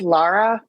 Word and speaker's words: Lara: of your Canadian accent I thought you said Laura so now I don't know what to do you know what it's AOK by me I it's pronounced Lara I get Lara Laura it doesn't bother me